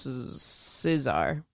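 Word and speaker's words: tsar: win over the russians scissor yeah i think that's how you pronounce it no c silency the russians are see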